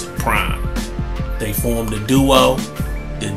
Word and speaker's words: PRhyme: the five nine hy m that's how they pronounce it prime they formed a duo the DJ / producer